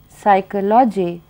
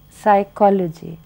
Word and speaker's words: psychology: So we would then we know that we should not say psychology but psychology.